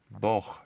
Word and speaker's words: Boh: In Slovak, literally, Boh. Boh, say it right now. Polish, you would say Bóg. Other Slavic languages, you say Bog.